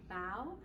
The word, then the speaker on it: bao: and that's actually pronounced even though it's spelled b-a-o it's pronounced bow like you bow what's neat about this